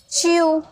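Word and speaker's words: chew: जैसे सी एच ई डब्ल्यू, सी एच यानी कि आधा चौ और ई डब्ल्यू यानी कि यू, च्यू, ठीक है, यहाँ पर छोटा ओ की मात्रा, च्यू।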